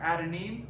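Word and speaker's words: adenine: So A stands for adanine.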